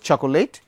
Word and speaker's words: চকলেট: তো আমরা এটাকে কেউ উচ্চারণ করি চকোলেট, কেউ বলি চকলেট, বলি না?